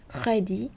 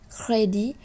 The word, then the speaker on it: crédit: Granit, débit, crédit, déficit, concept, dite. Alors ici, on a les deux mots débit et crédit qu'on ne prononce pas le T et les autres, on va prononcer le T.